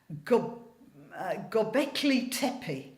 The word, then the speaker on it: Göbekli Tepe: we recently found that strange 12,000-year-old site at Göbekli Tepe. That's how it's pronounced.